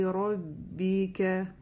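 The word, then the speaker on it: رَبِّكَ: Роббика. Да? Роббика. Ка мягко, не роббика или ка, или еще как-то. Ка, роббика, мягко.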